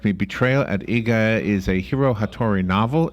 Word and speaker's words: Iga: It is Betrayal at Iga. Okay, thank you. Wow. See, and Well, you were sometimes right. I'm never Absolutely. sure. Is that the same way the grocery store chain is pronounced?